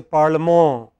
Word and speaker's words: parlement: So, what we say parliament, they say parlement. Okay? It is always the last syllable.